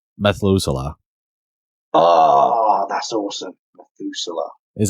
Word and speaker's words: Methuselah: name for him go ahead what's the name Methuselah oh that's awesome methusa is that yeah that's how you say his name right Noah's grandfather Yeah I think so I think so Methuselah I'm pretty sure that's how you say it